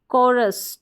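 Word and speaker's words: chorus: कलेरा ना कि लेरा फिर है कोरस चोरस नहीं पढ़ेंगे कोरस आ है शिफॉन अब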